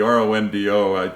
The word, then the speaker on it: Rondeau: But the EAU ending to the name dates back to some French heritage in the family. Pronounced O, obviously. Correct. Not O, but O.